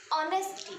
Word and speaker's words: honesty: The pronunciation of that word is honesty, and O is our vowel sound, so we apply here N.